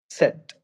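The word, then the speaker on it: Zett: सेट। सेट। ठीक है। Okay. Okay, सो ये प्रोनाउंसिएशंस हैं और प्रोनाउंसिएशन को एक बार फिर से हम ट्राई करेंगे।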